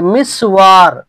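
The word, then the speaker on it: مِسْوَر: যেমন ধরেন যে মিসওয়ার মিসওয়ার মিমের কাসরার সাথে আর সিনের উপরে সুকুন আর ওয়া এর উপরে ফাতা মিসওয়ার আরেকটা আছে দেখেন লিখা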